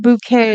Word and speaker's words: Bucket: Bucket. But she pronounced it bouquet to make it fancy.